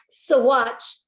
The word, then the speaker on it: Saguache: Yeah, Saguache. It's weirdly spelled and pronounced.